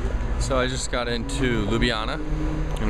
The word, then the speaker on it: Ljubljana: i just got into ljubljana and apparently that's what it's called not lube jhana or whatever the hell and i gotta tell